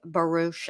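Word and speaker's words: Baruch: shoes his name is isaac baroosh i think is how you say it b-a-r-u-c-h it's just so no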